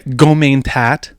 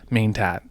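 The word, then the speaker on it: Ng Man-tat: and then uh yeah gain tat but apparently you're not supposed to pronounce the Go part so it's just main tat oh okay yeah so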